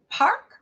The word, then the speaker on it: park: Aqui, park é parque. Né? Os brasileiros tendem a falar parque. Parque. Até pela semelhança, né, com a nossa palavra que é parque. Né? E muitas vezes até a gente pronuncia parque, com a letra I. Então, perceba, não é parque, é park. Park, né?